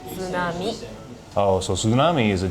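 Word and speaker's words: 津波: You say tsunami.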